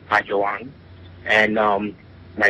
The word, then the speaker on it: Bayoan: know everybody calls me because they can't pronounce bang and um my name is bang this and since I was a a a